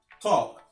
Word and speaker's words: talk: La lettre L ne se prononce pas dans certains mots comme talk. Talk. Tu ne prononces pas le L.